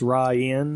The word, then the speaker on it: Rainn: It does look like it's rain, but it's Ryan.